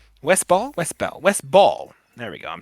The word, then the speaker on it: Ball: Chiefly because also the director of this film is Wes Bell. Wes Ball. Wes Bell. Wes Ball. There we go. I'm saying that name wrong.